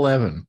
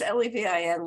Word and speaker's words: Levin: It is not even the way that New Yorkers pronounce L-E-V-I-N, Levin. People from Philadelphia pronounce it Levin. And I've always thought of myself as Levin.